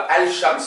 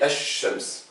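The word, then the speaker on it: الشمس: On ne dit pas al-shams, on dit esh-shams.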